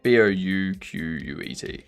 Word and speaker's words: Bucket: It may be spelled bucket, but you better say... Okay? So many words that I don't normally spell. Yeah, Bouquet. But you better not...